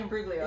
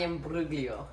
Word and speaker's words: Imbruglia: Natalie Imbruglia. Yes, Natalie Imbruglia.